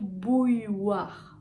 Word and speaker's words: bouilloire: On va commencer avec le plus simple. Bou, bou, bou. La bouche est bien ronde, la langue en arrière. Bou, ou, ou. Ensuite, on retrouve le y qu'on avait dans accueil, écureuil, grenouille, etc. Donc, on va faire bouille, bouille, bouille. Ok. Ensuite, on a wa, comme oiseau, bouillois, bouillois. Et au final, on va